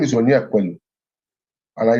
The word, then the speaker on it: Onyekwelu: My name is just 3 syllables. Onyekwelu.